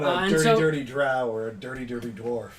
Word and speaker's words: drow: he's not a And dirty, so- dirty drow or a dirty, dirty dwarf. No, he's a sun elf. It's pronounced Dro.